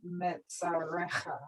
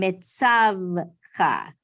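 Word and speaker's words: מצותך: Levavecha and Metzarecha. Yes, Livav. I'm just going to say that the shva is silent because there's just one. So it's Livavcha and Mitzavcha. Very good.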